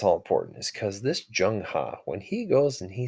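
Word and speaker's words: Zheng He: lot of money in was this guy named jungha this is how it's spelled this is how it's pronounced but why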